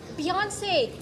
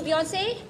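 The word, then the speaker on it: Beyoncé: there beyonce you know beyonce sorry i'm sorry to burst your bubble butt i can't and won't ring in the us i don't understand you're saying something sir it's accent on the second syllable let's get down to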